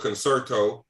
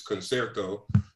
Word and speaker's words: concerto: This is concerto. Some people might call it concerto. Since we're talking about that, it's concerto. Number 9, movement 2.